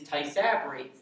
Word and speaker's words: Tysabri: you pronounce this medicine it sounds like a japanese carving knife and the medicine's name is tysabri and i just said